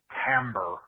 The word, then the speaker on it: timbre: look into that uh yeah hi david it's pronounced timbre when somebody is upset and their voice changes